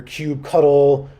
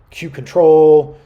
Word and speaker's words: kubectl: the kubernetes API now you'll hear different pronunciations for this in the wild you'll hear Cube cuddle Cube control Cube CTL these all mean the same thing so don't worry all